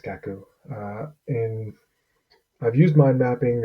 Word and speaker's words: Cacoo: tool called cat poo I think it's pronounced kaku and I've used my